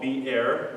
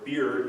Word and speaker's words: Beer: Now this place called Beer, or Beer if you want to pronounce it wrong, it means well.